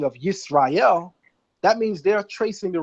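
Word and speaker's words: ישראל: text of the Torah, we pronounce it with a sin. Sin. No SH, but SI, sin. That's why whenever you're reading the Masoretic text, it'll never say Yasharallah. It'll say Yisrael.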